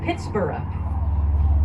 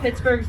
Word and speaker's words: Pittsburgh: And Forbes thought, I'm paraphrasing, and Forbes said, well, how about we call it Pittsburgh? Yes, the H on the end of Pittsburgh was originally pronounced Borough, because Forbes was a Scotsman.